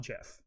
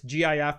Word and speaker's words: GIF: created the meme generation it's pronounced jif not jif and and and don't even you know give that ambiguity just go it's gif not gif yeah exactly just put